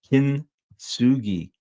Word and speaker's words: Kintsugi: Kintsugi, kin with the emphasis on the first syllable.